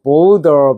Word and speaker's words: voter: VOTER. 어려운 말로 유권자란 말도 해요. 투표자, 유권자. Voter. voter, Voter. voter. 미국식은 거의 border 비슷하고 영국식은 확실하게 voter하고 다시 한번.